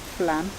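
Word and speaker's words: Flåm: We then went to a place called Flam. Flum. Flum. They pronounce it Flum.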